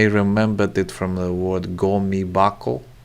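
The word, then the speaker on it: ゴミ箱: i think i remembered it from the word gomi bako it's bako because it's you know on the second syllable and it changes the hakko changes tobacco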